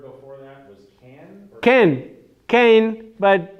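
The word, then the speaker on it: כן: Or Ken, but Israelis pronounce it ken, but it's spelled Cain with a tzere.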